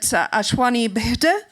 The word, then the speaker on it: Ashwini Bhide: And please correct me if I get the pronunciation wrong, but ASHWINI BHIDE, is that correct?